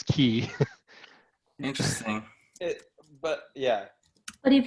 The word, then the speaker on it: Quay: the one that oh that's how you say it key that's the correct pronunciation A lot of people say Quay yeah okay the word the word is key interesting but yeah but